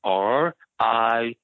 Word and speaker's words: Ried: My last name is Ried. Mm-hmm. I before E, except after C. So it's German, and in German you always pronounce the second vowel. So hence why Stein is Stein and Reed is Reed.